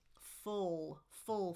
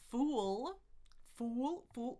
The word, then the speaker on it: full: the door or book full. Feel your tongue sliding in the back. It's not It's not fool fool. Look, my lips are rounded. No, no, no. Full.